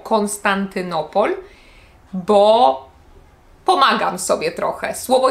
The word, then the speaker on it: Konstantynopol: jedną sylabę na przykład Konstantynopol Konstantynopol możecie usłyszeć że lekko akcentuje ko na początku o Konstantynopol bo pomagam sobie trochę